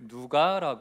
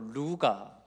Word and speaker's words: 누가: 기록한 사람을 성경에서는 그 이름을 누가라 말합니다 누가이 누가라 이름을 어 다른 곳에서는 뭐 루가 뭐 루카 또 영어권에서는 스라고 발음하기도 하는데요이 누가는 오늘 참 우리에게